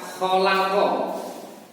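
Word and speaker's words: خَلَقَ: Contoh yang lain, kata-kata khalaqa dibaca pendek, semua artinya menciptakan, dan bila khoknya dibaca panjang bisa atau artinya bergaul.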